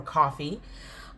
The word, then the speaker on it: Ko-fi: That's Ko-fi or coffee, if you pronounce it that way.